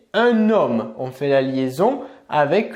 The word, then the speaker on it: homme: par un h et le h du mot homme est 1h muet donc il va être possible de faire les liaisons ou bien encore les visions exemple on va ici prononcé un homme la liaison qu'est ce